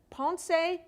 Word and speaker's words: Ponce: She grew up in Ponce, Puerto Rico. Did I pronounce that right?